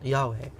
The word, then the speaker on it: Yahweh: Vav, He, Yud, He, which if you pronounce them in Hebrew, you would pronounce Yahweh.